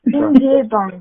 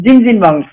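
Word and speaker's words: 찜질방: Alors, c'est à Jimgilbang, je crois. C'est quelque chose comme ça. Alors, je sais pas comment on le prononce. Jimgilbang, c'est pas ça? Jimgilbang, ouais. Voilà, Jimgilbang.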